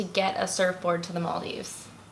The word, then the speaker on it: Maldives: what's the proper pronunciation okay maldis so in their native language they they call the Maldives MALDI so hence MALDI Maldives it's just an easy